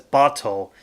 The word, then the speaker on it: Bat: companions Lin and bottle I know technically his name is spelled as bat but they kept on pronouncing his name as bottle in the anime so I'm just going to refer to him as bottle now Lin is a 12